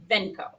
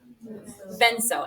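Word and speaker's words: venzo: If I write it like this, how do you say that word? Venco. That's a problem, right? You said it was what? Venso, and that's right.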